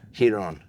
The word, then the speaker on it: Ryron: The R is silent? And you politely said, no, it's not silent. It's he. Ryron. I like it. Who are you? Ryron Gracie, part of the Brazilian jiu-jitsu family, the Gracie family.